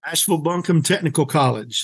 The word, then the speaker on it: Asheville-Buncombe Technical College: Tell me the name, because I know I'm going to mispronounce it. Asheville-Buncombe Technical College is the place where we are.